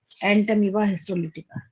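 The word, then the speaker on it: Entamoeba histolytica: अच्छी बात ये है कि जैसे इसकी प्रोनाउंसिएशन है वैसे स्पेलिंग है। हम क्या बोल रहे हैं? हिस्टो, हाँ, लेटिका में बस आई की जगह वाई आ जाएगा, LYTICA।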